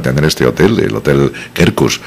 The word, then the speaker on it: Quercus: este hotel, el Hotel Kerkus, que se escribe con Q de queso, la primera, y la otra con C de casa, Kerkus.